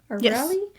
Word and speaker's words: O'Reilly: O'Reilly?